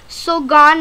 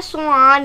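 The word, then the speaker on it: soğan: देखिए यहाँ पे प्रोनाउंसिएशन सोगान नहीं है, सोआन है, सोआन। ये देखिए यहाँ पे मैंने लिखा है सोआन।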